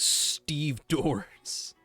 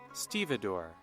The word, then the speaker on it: stevedore: so many ports what I highly doubt that is actually pronounced as Steve doors help me out Google no stevedore okay thank you for okay